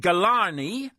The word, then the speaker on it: Ghelani: the line now my guest who's uh David galani and who's the director of The Polar the